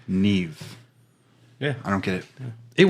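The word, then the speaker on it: Niamh: But there's a girl on there, her name is Neve, but it's spelled Niamgh, I believe.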